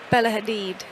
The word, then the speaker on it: Hadid: Yeah, we're going with the pronunciation of Ciara. Yeah. Rebel Wilson, Spike Lee, Bella Haddad, Pusha T. Bella Hadid.